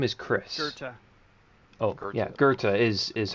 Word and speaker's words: Gerta: nature of the conversation like her name is Gerta.